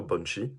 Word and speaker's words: banshee: banshee une bonne chimie alors je sais que ça se prononce plutôt punchy en anglais voilà et c'est ce